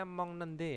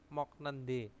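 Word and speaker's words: 먹는데: mokta menjadi m nende ya bacanya Mong nende ya bukan mok mok nende Mong nende nah terus Jata menjadi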